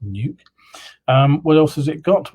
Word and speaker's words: Nuuk: It's called the Nuuk, N-U-U-K, I presume it's pronounced Nuke.